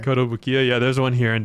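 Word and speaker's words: Kotobukiya: pronunciation fucked me up. Oh yeah. That's right. Koto Bukiya.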